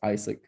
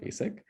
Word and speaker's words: AIESEC: as well and then one corrected me saying that it's isaac not asic then we started talking